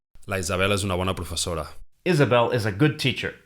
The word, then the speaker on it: professor: One other thing I want to point out here is that the letter R is silent in the final position in Catalan, so this word, professor, ends in a vowel sound.